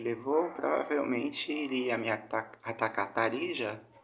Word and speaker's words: Tarija: A Argentina, pelo tempo que levou, provavelmente iria me atacar Tarija ou Tarirra. É o correto da pronúncia sul-americana é Tarirra.